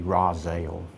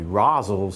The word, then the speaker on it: Rozzelle: probably the road is actually supposed to be Roselle Roselle's Ferry Road I doubt the pronunciation changed it just it doesn't look right to people that aren't Rosales it looks like it ought to be Rosales so that's why people pronounce it that way